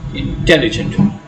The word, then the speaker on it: intelligent: You stress the second syllable, intelligent.